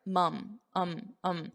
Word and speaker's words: mum: But I want you to notice that the pronunciation is slightly different here. Notice my mouth. Mom. But here, mum. It's more of an unstressed mum. Mum's the word. So don't say mom's the word. It's not mom, mother, it's mum, mum,